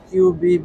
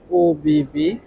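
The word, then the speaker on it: ÖBB: মূলত অফিস ও বিবি একচুয়ালি অনেকে কিউবি উচ্চারণ করে থাকেন একচুয়ালি জিনিসটা হবে ও বিবি দেখতেই পাচ্ছেন অসংখ্য টিকেট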